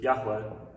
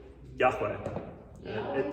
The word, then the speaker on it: Yahweh: The pronunciation is not entirely known. We don't really know exactly how to pronounce it. We have a YHWH, because again, Hebrew is right to left. We have YHWH, and the vowels that were supposed to be there are unclear.